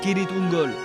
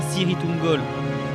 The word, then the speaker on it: Cirith Ungol: passage du col de Kirith Ungol, par lequel Gollum voulait les mener. Et faites attention, ça se prononce Kirith Ungol et pas Cirith Ungol, comme le dit Faramir dans le film.